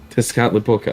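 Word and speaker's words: Tezcatlipoca: to run remember T's have to be hard pronounced yeah I feel like I've heard this before tzat laa you got it really tescot lioka I thought I've heard of that before somewhere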